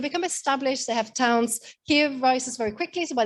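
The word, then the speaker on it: Kyiv: Kiev, sorry, we were all learned to call it Kiev. To go with the Ukrainian pronunciation.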